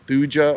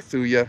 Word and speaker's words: Thuja: that a white cedar the genus name is thuja or thuya however you want to pronounce it but right next to